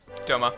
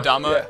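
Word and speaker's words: Doma: what town that was domma oh dom dom dama he's pronounced it D I don't know how to pronounce that I think it's I think it's D It's supposed to be a long o d uh I don't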